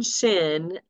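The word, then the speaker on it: שׁ: I remember is that sin is never right so when you see the dot like when you see the dot over here on the left then you would pronounce it with a s sound and when you see the dot on the right you would pronounce it with an S sh okay so it's the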